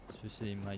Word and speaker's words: Tsushima: Tsushima, ja, Japan. Tsushima, Japan. Just det, så är det man uttalar det.